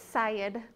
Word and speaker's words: Syed: set of letters but officially it's Syed which kind of rhymes with head I guess um yeah